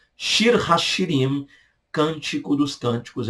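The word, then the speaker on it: שיר השירים: Cântico dos Cânticos, hebraico, Shir ha-Shirim. Shir ha-Shirim, Cântico dos Cânticos é o nome, ok?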